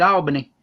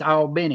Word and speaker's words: Albany: go to south georgia you better not call it albany because that ain't what it is it's all been it it's all but because you go in that town and you say albany they'll be going you in the wrong state that's just like we